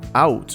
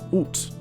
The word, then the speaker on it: Aoust: Then, towards the start of Middle French, many of the S's before T's became silent, creating out or out with a silent S.